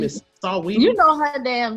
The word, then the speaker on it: Saweetie: She spell it in a, right? Huh? Saweetie. Yeah, Saweetie. Yeah, it got an A on it.